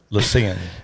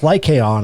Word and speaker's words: Lycaon: Lycian. No, it's Lycaon, I think, is how they pronounce it.